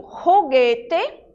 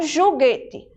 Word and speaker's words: juguete: Em espanhol, a letra J, ela tem um som parecido com o nosso R. Então, quando eu digo juguete, né, eu pronuncio o J como se eu estivesse falando o R do português e não juguete, certo?